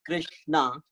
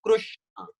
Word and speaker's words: Krishna: So some people called it Krishna, some other people call it Krushna. So we say Re, some call it as Ru, Krushna. So that is a little pronunciation difference as a difference in dialect. So we can say re or crew. Both are correct.